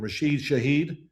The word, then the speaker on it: Rashid Shaheed: Rashid Shaheed.